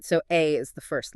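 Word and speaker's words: 愛: He begins by pointing out that the Japanese kanji for the word love, which is pronounced "ai", requires exactly 13 strokes of the pen to write.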